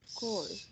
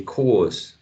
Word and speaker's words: corpse: So you say core. Yeah, you can say core. Core, that's right. You can have a final or you can say cause, but the P, that letter, is not pronounced.